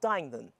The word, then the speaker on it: Duigenan: OK, this is Duigenan. That's the correct pronunciation, isn't it?